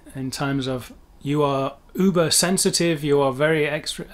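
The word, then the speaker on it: über: super or whatever like that in english but pronounced uber of course or strictly speaking in most regions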